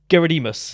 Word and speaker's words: Gerodimos: that is the closest to the Greek way, so that's actually pretty good.